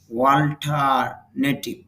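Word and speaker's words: alternative: অল্টারনেটিভ বিকল্প, অল্টারনেটিভ বিকল্প, যদিও বাংলাতে অল্টারনেটিভ র সাউন্ড আছে কিন্তু আইপিএতে র নেই, এই জন্য সঠিক উচ্চারণ হবে অল্টারনেটিভ, অল্টারনেটিভ বিকল্প, অল্টারনেটিভ বিকল্প।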